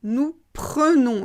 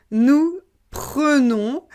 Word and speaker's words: prenons: prend elle prend on prend ensuite ça change nous prenons nous prenons donc là on ne prononce pas en on prononce eux nous prenons vous prenez et là ça change encore ils